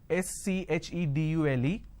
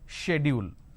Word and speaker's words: schedule: i mean by this the british pronunciation is schedule and american pronunciation is